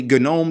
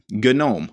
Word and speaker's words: GNOME: supposed to be pronounced so silent g why don't you just call it gnome well you can if